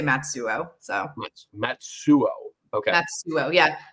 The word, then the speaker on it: Matsuo: I mean, some people like to go the really hardcore Japanese pronunciation and go Matsuo, but I say Matsuo.